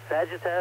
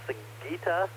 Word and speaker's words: Sagitta: Vulpecula, the fox, and Sagitta, or Sagitta, I've heard it pronounced both ways, the arrow.